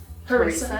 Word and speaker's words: harissa: Harissa.